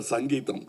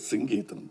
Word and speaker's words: Singeetham: For once and all in kamagam there was always a confusion how to pronounce his name he used to get very upset because say Mr. Sangeam. No it is singam please.